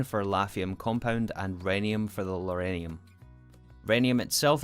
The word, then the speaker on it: rhenium: Rhenium is pronounced rhenium. Really?